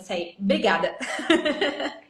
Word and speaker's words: obrigada: It's spelled obrigada with an O in the beginning, but no Brazilian says it like that. We just cut the O and say obrigada.